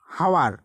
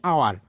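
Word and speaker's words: hour: এরপর হচ্ছে যদি তোমরা ইংরেজিতে উচ্চারণ করো হাওয়ার, কিন্তু এর উচ্চারণ অ্যাকচুয়ালি আওয়ার। তো দেখো এখানে এইচটা কিন্তু লুকায়িত থাকছে, সেই নিয়মটি এখানে বলা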